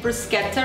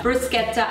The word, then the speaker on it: bruschetta: it's an Italian authentic bruschetta recipe and correct me if I'm wrong with my pronunciation I'm pretty sure it's a bruschetta and not bruschetta referring to a popular